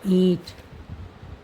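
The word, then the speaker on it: اینٹ: ईंट, मेरा, ईंट ऐसे लिखा जाएगा, ये की शक्ल, और नून नून आ गया, नून, ईंट नून आएगा नहीं, ये भी साइलेंट ही रहता है, तो ये नून ओना बोलते हैं इसको, ईंट।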